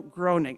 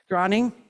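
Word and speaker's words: Bruno Gröning: going to speak about Bruno groaning I always pronounce that wrong gring Bruno gring and uh the circle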